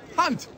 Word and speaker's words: Hunt: instincts what's your name it's very simple hunt it rhymes with a word you perfectly who is that